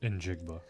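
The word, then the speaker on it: Njigba: Nigba.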